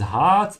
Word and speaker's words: Harz: This is Harz and not Herz. Yeah, Harz, which is resin.